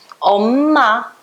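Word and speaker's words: 엄마: E antes de consoante, M com M vai ficar os dois mesmo. Omma, tá? Mesma coisa, omma, pronuncia os dois.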